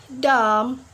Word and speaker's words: dumb: follows letter M for example like climb boom dumb plumber yep we not pronounce the letter B right because b4b we